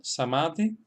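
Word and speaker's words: Samādhi: Vemos que en el primer caso, Samadhi, estamos acentuando la segunda sílaba porque tiene una vocal larga.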